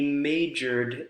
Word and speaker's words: majored: He majored in economics. ED pronounced like a D, right?